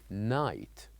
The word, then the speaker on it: knight: And finally the last word we learned last time which is knight. Night. The G and H. We write it here. Yes, but they are silent. We don't say it. We only write it.